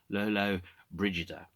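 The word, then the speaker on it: Lollobrigida: talked about yesterday i understand this is actually pronounced lolo brigida and lolo bridges was a italian film actress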